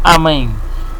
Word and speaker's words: Amén: Entonces, dice aquí que se escribía Imen, pero se pronunciaba Amén, símbolo del poder creador y de la mitología.